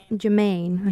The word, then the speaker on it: Germein: So we are here with the German. How do you say it? Germain. Okay, Yeah. I was a little confused because there's a G, so I was not sure how to properly say it.